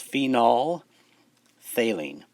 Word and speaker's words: phenolphthalein: phenol phthalene again so don't pronounce the ph pretend it's not there because it's silent so it's phenol phthaline and it's colorless in